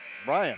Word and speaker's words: Brian: Brian, it's okay. Just spelled like it kind of tricks you. It looks like Byron.